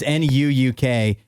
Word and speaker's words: Nuuk: a stab of that I think it's pronounced nuke or nuke yeah something like that that sounds that sounds like it would work or n maybe nuck it could be nuck yeah either way uh it's Nuuk it is the capital city of the country